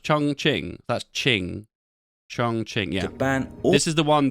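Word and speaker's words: 重庆: Yeah, this capital, is this pronounced Chongqing? That's Qing. Chongqing, yeah.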